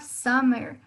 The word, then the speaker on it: summer: Then we have summer. Si bien es cierto, está escrito con una U, este summer suena como una A. Tiende a tener el sonido de A.